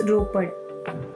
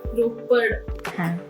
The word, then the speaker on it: रोपड़: मतलब बहुत लोग रोपर इसका एग्जैक्ट प्रोनाउंसिएशन क्या है? इट्स रोपड़. रोपड़. डी. हाँ, रोपड़. ओके.